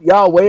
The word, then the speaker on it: Yahweh: I don't correct you when you call him Yahweh because I know that Yahweh is the Hebrew pronunciation of the name.